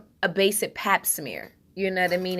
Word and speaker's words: pap smear: I was saying plat smear earlier and it's pap smear.